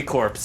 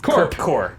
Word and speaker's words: Corps: it was gonna happen if you're saying it phonetically it would be corpse it's it's core core green lights are cor all right was it